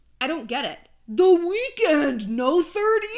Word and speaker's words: The Weeknd: weekend no the 30 the weeknd the weekend no it's like it's just it's just the weekend but without the e why not the third